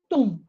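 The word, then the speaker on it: thumb: Now in letter C, we have soon, super, tum. Oh, look at this. The B is silent. So we say tum, like tum, tum, tum, right?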